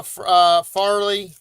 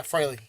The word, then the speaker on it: Fraley: So you get the 1 in 10 by Farley. Fraley. So, oh yeah, Fraley. Because Farley's FAR over at the. I'm like, we got Farley con. I'm saying it wrong.